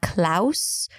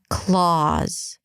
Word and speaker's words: Claus: And then Claus, it's not Klaus, it's Claus, Claus. A K sound, an L, an ah. Round your lips a bit, drop your jaw. The mouth is open here, Claus. And with a Z, Claus.